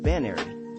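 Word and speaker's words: banerry: called an apple at bain arie pronounced as rhyming with some pronunciations of canary which a linguist friend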